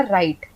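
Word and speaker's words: right: तो यहां पे हमने आर आई जी एच टी में जी एच साइलेंट हो गया। हमने बोला राइट।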